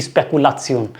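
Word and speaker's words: Spekulation: कैसे बोलते हैं, जब भी कोई इंग्लिश वर्ड आता है तो उसकी प्रोनाउंसिएशन डिफरेंट होती है।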